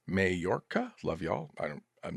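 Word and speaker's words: Mallorca: And, uh, MameM says, uh, Malorca is spelled or is pronounced Mayorca.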